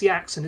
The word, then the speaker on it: Yaxon: It's pronounced Yaxon, isn't it?